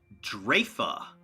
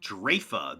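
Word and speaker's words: Draoife: sense of all this drefa it's pronounced drafa those gauntlets that we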